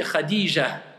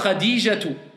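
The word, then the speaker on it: خديجة: Finit par le ta marbuta. Donc s'il finit le ta marbuta, normalement je dis Khadija. Khadija. D'accord? Ou alors Khadijatu. Je prononce clairement.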